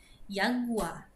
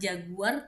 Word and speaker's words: Jaguar: Jadi, J itu tidak ada dalam bahasa Jerman. Jadi, diganti menjadi Y. Yagua. Jaguar. Jadi, bukan Jaguar tapi Yua.